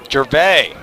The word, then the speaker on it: Gervais: Gervais, you're right. The S is silent. Your instincts are incredible, Merle.